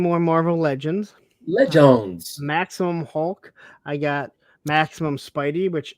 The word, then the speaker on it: Hulk: Hulk. Please pronounce the L.